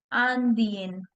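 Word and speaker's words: indien: Means I have to emphasize on the last consonant N sound.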